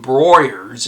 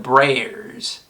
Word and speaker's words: Breyers: Breyers ice cream, and I was saying Broyers instead of Breyers. And I was like, why can't I gotta, and they corrected me. I was like, oh, it looks like it'd be a silent E, and it would